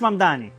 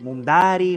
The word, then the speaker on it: Mamdani: Nadie sabe pronunciar mi apellido, es Mamdani, pero a cada rato me dicen Mumdari, Mumnari.